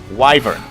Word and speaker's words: wyvern: I got the name now I know how to pronounce it properly wyvern W is the first and V is the next the protection is on